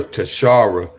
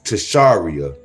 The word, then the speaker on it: Tasharia: I've been calling her Tashara, but she pronounced it Tasharia.